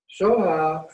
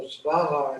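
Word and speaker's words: स्वाहा: Raksha is spelled R-A-K-S-H-A, R-A-K-S-H-A. So it's twice. Soha is also Svaha in Tibetan, which means always increasing, always developing,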